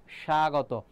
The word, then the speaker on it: স্বাগত: তাহলে উচ্চারণটা হবে না ঠিক তেমনিভভাবে স্বাগত স্বাগত দেখো শুরুতে কি আছে ব ফলা আছে আর আমরা তো বলি না যে যারা ক্লাসে আসছো তাদেরকে সাগত জানাচ্ছি সাগতছা বলি না স্বাগত এজ ইউজুয়াল উচ্চারণ তাহলে